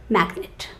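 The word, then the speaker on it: magnate: a business magnet okay but that spelling is m a g n a t e but you pronounce it as magnet can you book a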